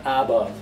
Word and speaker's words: above: problem arises with above the a is not above it's uh weak form above also a go second syllable is a strong one so the first one